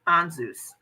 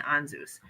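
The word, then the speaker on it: Ansuz: Thurisaz and Anzus. Thurisaz and Anzus.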